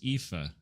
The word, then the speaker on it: Aoife: It's Aoife.